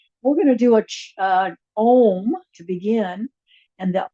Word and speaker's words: Om: this time and it's going to be done in three parts because it's like three syllables. Even though it's a simple word of om sounds like there's only one syllable to me but really in the Sanskrit language that is it